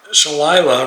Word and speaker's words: Shalila: Shalila rhymes with Delilah says, I hate mandatory tipping.